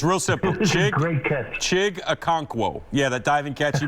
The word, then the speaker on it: Chig Okonkwo: Chig Okonkwo. Yeah, that diving catch he made on the left side. Yeah, Chig Okonkwo.